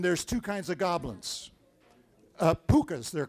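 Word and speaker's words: pooka: Pukas, they're called. You spell it, depending on where you are in Ireland, you spell it P-O-O-K-A, P-U-K-H-A, P-U-K-K-H-A, but however you spell it, it's pronounced puka.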